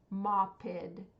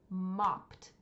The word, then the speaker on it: mopped: sound at the end so it's not moed it's mopped mopped we can hear that it's past tense because we hear a t sound at the end so let's review those